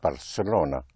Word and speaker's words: Barcelona: Well, that's how you will pronounce it in Castellian Spanish and parts of Spain, but everywhere else it will be pronounced Barcelona like an S.